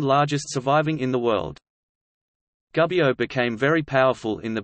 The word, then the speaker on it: Gubbio: Gubbio, Italian pronunciation, Gubbio, is a town and comune in the far northeastern part of the Italian province of Perugia, Umbria.